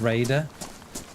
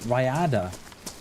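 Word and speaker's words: Rhayader: Well, well, it's always funny how people pronounce Raider. They always some pronounce it Ryada. I should be pronouncing it. No, yeah, I should be pronouncing it this way. I should be pronouncing it Raider. That's how I should be pronouncing it. That's how it's pronounced.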